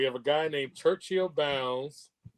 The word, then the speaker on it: Bounds: a guy named Churchill Bounds not downs but bounds bounds or bounds okay